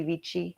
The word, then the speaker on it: vici: Julius Caesar famously said, Wady, Waney, weedy, wiki, or veni, vidi, vici. Sometimes if people use ecclesiastical pronunciation.